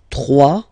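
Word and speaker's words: trois: 3, final S not pronounced, 3.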